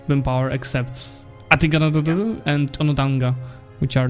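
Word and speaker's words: Onondaga: much the highest win power except Atigaradu and Onodanga, which are not in his federation. Hey, good job pronouncing that one.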